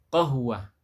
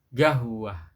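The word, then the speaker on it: قهوة: Contoh misalkan apa? Qahwah jadinya gahwah ya, jadinya gahwah.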